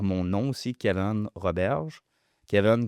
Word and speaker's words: Keaven: Kevin comme Evan, ça s'écrit K-E-A-V-E-N.